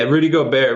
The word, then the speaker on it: Gobert: Did I pronounce his name correctly? Yeah, Rudy Gobert.